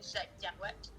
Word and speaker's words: Jack Kerouac: Pronounced Jack Kerouac. I don't know. So it's like in Picardie, we say Jacques Kerouac.